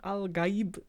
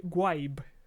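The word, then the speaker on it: al-Gaib: of the language but it's not al gaib it sounds more like gwaib nah damn that was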